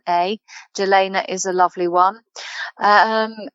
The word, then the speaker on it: Jelena: easy to get hold of but um either gelena yelaina it's pronounced but jelena j e l e n a jalena is a lovely one um and then going